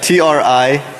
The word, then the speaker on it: Trinary: It's T-R-I-N-A-R-Y. Trinary, like 3 naries. All right, so trinary software is a technically